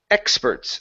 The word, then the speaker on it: experts: Next up is experts. The stress is here at the very beginning.